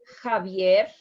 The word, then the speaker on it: Javier: And it's going to sound exactly like Javier and Jerusalem. And maybe tomorrow or Wednesday, I will be putting pronunciation short video for you regarding the use of this letter.